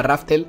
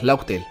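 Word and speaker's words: Laugh Tale: y entonces imagino que la gente lo llamaba Raftel al equivocarse en la pronunciación y se llama en realidad Logtail, o bueno, Goldie Roger le pone ese nombre y ya está.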